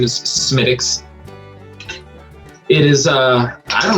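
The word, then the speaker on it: Smithwick's: funny you said it right i always said smithwicks but the correct pronunciation is smitix it is uh i don't know if it's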